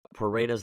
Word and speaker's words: Pareto's: It's so crazy that you were talking about Pareto's law, right?